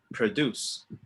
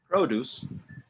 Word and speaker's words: produce: now repeat the verb produce okay so the first one is a noun produce and the next one is a verb produce okay i can produce videos